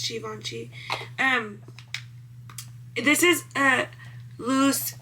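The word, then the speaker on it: Givenchy: Not Gavinci. Givvoni.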